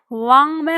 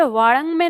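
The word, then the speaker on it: वाङ्मय: आप कहेंगे वाणंग में नहीं होगा क्या, तो वाणंग में नहीं होगा। आप अब ध्यान रखिए, मैंने आपको बताया था कि जो पंचमाक्षर है उसका जो उच्चारण होता है वो अंग के जैसा ही होता है, तो ये वांग में होगा।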